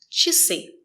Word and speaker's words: часы: and it's after sounds sh and sh, we pronounce the letter I as E. Just remember it's short. И. И. Часы.